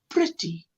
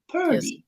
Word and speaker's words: pretty: So, but I've heard it pronounced like, look, pretty. I've heard some of you say purdy, and I'm like, no, that R is before the E, not after the E.